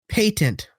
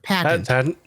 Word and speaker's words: patent: actor who played Edison pronounce it patent instead of patent. Okay. That really rubbed me the wrong way. I understand that's how they say it in the UK, but they're in America.